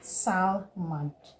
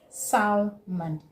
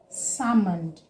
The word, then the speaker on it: salmon: Do you say salmon? Salmon? No, it is salmon. Salmon. Okay, because the L in this word is not pronounced. It is a silent letter.